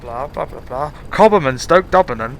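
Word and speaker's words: Stoke D'Abernon: Cobham and Stoke Dubbernon. It's so good. It's so good. I don't get why I like it, but if it's how it's spelled, it's like Cobham and Stoke D apostrophe Dubbernon, something Aberdeen.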